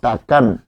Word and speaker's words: তাকান: তাহলে আন প্রত্যয় এই শব্দের মধ্যে রয়েছে এবং এটি যখন উচ্চারণ করবে করব তখন হবে তাকানো। উচ্চারণ করব তাকানো উঠান।